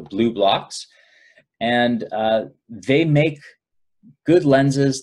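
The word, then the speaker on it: Blublox: There's also an Australian company called Blue Blocks with it's spelled B-L-U-B-L-O-X, so Blue Blocks, and they make good lenses that block both blue and green light completely.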